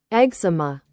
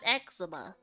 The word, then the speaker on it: eczema: that I have is my how do you pronounce that? Hold on. Let me Google it up. Eczema. You heard that? Eczema.